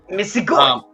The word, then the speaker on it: Misigoy: The only thing I would nitpick ever with anyone is the hard G sound if they say joy instead of goy, but other than that, you're good.